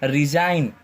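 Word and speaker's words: resign: जाएगा साइलेंट हो जाएगा जैसे इसको क्या बोलेंगे रैन इसको साइन इसको डिजाइन इसको रिजाइन ठीक है जी हमेशा क्या होगा यहां पर साइलेंट होगा ओके खा ए हार्ट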